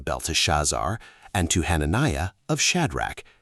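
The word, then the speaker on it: Belteshazzar: Beltazar, pronounced Belt Shazar, likely invokes Bell, pronounced Bell, the Babylonian god, also known as Marduk, pronounced Marduk.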